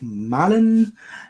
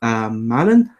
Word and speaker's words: Marlon: Yeah, so my name is Marlon, ethical people. Actually, the Brazilian pronunciation is Marlon. My name is supposed to come from French, so it sounds French, isn't it?